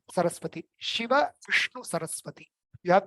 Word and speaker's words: Saraswati: And then the last one, sa, is easy, right? Saraswati, soft Saraswati, right? Shiva, Vishnu, Saraswati.